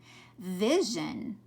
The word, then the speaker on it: vision: the eye is short notice this one's making that zhan sound vision and this one is